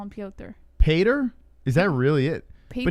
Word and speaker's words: Piotr: Pater, he says. Pater. His name is literally Piotr. It doesn't matter how it's spelled in English.